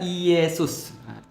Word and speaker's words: Iesus: Maka mereka menyebut Yesus itu adalah Iesus. I Yesus gitu kan ya. Nah, I E S U S. I Yesus ya. dalam dalam penyebutan foname mereka, lidah mereka jadinya Yesus.